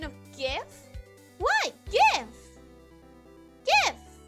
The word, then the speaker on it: GIF: celebrate her pronunciation of GIF what GIF GIF imagine if gibberish had a j instead of a g and say it that way to say it correctly no gibberish sounds awful